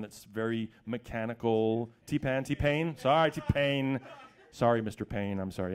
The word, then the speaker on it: T-Pain: For the most recordings, you have this, you know, T-Pan has that kind of sound that's very mechanical. T-Pain.